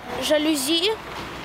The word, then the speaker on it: жалюзи: обеспечение жалюзи каталог обеспечение жалюзи каталог запоминаем правильное ударение обеспечение как глаголе обеспечить на е жалюзи это французское слово ударение на последний слог каталог здесь легко запомнить